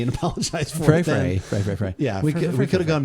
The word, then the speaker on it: Frey: I was like, it's pronounced Frey.